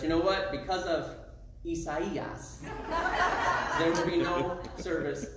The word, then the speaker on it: Isaias: Because it's not Isaiah. You can't call it Tropical Storm Isaiah. It's Isaias. They like love to say it that way.